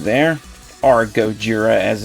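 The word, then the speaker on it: ゴジラ: Japanese title logo for Godzilla right there or goira as it's pronounced in Japanese we have the Bandai Namco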